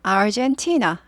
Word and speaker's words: Argentina: happened 발생했습니다 티나에서 발생했어요 Argentina 한국말로는 아르헨티나 예 그래서 영어로는 Argentina Argentina Argentina Don't Cry For Me Argentina 이런 노래 있었죠 그래서 알게 됐어요 그래서 아르헨티나 하지 않는구나 영어로는 티라고 하는구나 되죠 아 R 있으니까 구리죠 아젠 아니고 aren 이렇게 되죠 Argentina 이렇게 되고요 나라 이름 앞에는 in